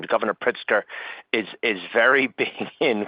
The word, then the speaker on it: Pritzker: And like it seems like I apologize if I mispronounce the name, Governor Pritzker, is is very big in quantum computing.